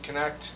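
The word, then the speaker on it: Knecht: My name is Connect. K N E C H T. Can you spell that again? K N E C H T. Connect. Connect the dots. Connect four.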